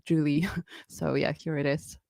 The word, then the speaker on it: Joulie: How are you preferring your name to be pronounced, by the way? Yeah, it's Joulie.